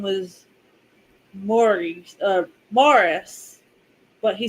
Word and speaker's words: Maurice: M but so like if you accidentally said Maurice but his name was Morris, he would like freaking freak out. But it's like your name is literally spelled like Maurice, not Morris.